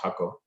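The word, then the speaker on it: Jacó: in a place called hako which is about an hour and a half drive from uh an hour and 15 minutes strike from san jose and uh it's jaco but it's actually pronounced hakko and uh that's like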